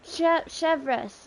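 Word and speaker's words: Chevreuse: Oh, that's how you pronounce her name. Chevres.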